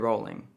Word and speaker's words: Rowling: It actually rhymes with ruling. That's right, JK Rowling.